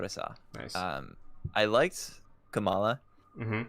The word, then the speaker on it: Kamala: I liked Kamala. Mm-hmm. I keep almost calling her Kamala, like pronouncing her like the vice president pick. That is not how you pronounce it.